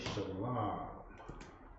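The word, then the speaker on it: שלום: First word is shalom. Shalom. Yeah, sha, la, ma. The sha, of course, by itself or pronounced by itself. The ma and the la is connected, so you have shalom, which means peace.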